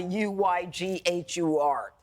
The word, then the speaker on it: Uyghur: just read about the U-Y-G-H-U-R. And he didn't know it. The way you pronounce it is not Uyghur, that it's Uyghur.